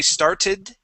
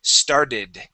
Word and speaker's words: started: But when you add an ED to that word, okay, you're correct. That ED makes an id sound, okay, you pronounce that correctly, but that T, right after the, or right before the ED changes to a D sound. So we don't say started, we say started.